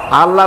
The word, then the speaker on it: আল্লাহ: আল্লাহর নাম কি আল্লাহ আল্লাহ না কিন্তু মুখটা গোল করে উচ্চারণ করতে হবে সুন্দর করে আল্লাহ বলেন সবাই আল্লাহ দিল সে